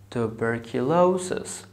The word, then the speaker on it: tuberculosis: So I have five parts, tuberculosis.